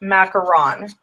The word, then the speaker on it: macaron: the word McCarron versus macaroon and I did learn that they are two different things so this ink is actually pronounced McCarron because it's referring to those cookies that are layered macaroons